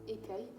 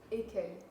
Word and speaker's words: Écueil: How do you pronounce it again? Écueil. Écueil. Écueil, yeah.